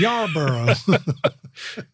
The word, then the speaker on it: Yarborough: It's like Yar and then Burrough, spelled like Burrough, Borough. Yes. Right? Yeah, I get people DM me through Instagram. You live in my borough or you live in Yarborough?